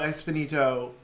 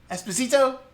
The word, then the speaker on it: Esposito: factions and then giancarlo espinito is a separate what do i always say that wrong i would say it wrong esposito that was probably the most right you've ever said it though i'm getting closer